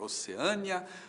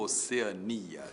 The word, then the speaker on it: Oceania: E agora, Oceânia ou Oceania? Tanto faz, tanto faz. As duas formas existem. E você pode dizer que a Austrália fica na Oceânia ou na Oceania.